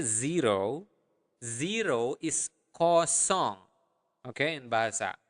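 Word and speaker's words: kosong: say zero zero is coong okay okay in basa say it again repeat it after me Co s uh make sure that you are pronouncing the nle sound There coong song like a song okay so coong okay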